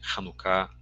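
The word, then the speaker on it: Hanukkah: de hanucá ou variações a palavra eh é pronunciada como como um um k gutural né Eh então nossa a nossa pronúncia seria com hanuka hanuká bem forte tá irmãos o que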